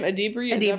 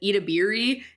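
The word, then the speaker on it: Edebiri: How do you say her last name? Adebri. Okay. But Elle Fanning and Io as well. I once butchered it so bad on this podcast. I said Itabiri, and I'm like, I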